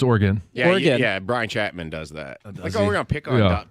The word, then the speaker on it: Oregon: alone in that at least I don't say Oregon no it's Oregon yeah Brian Chapman does that oh we're going